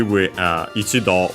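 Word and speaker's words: 一度: Luckily, ichido, we have seen it before, we see it a lot, it's quite used, so it's easy to remember then that it's accent on the last mora.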